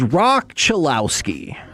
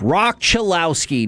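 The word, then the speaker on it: Cholowski: The number one overall pick was Rock Chilowski per the UCLA media pronunciation guide. It is Rock Chilowski.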